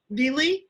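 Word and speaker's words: Vly: they were summering in is it pronounced Vle or Vile Lake? Do you know near Warren? Vle. Yep. Vle. Vi.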